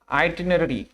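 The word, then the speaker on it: itinerary: थोड़ा सा इसके प्रोनाउंसिएशन पे बात करते हैं, इसे इटी ना पढ़िएगा, दिस इज आईटी, और नररी, दिस इज आइटिनरी।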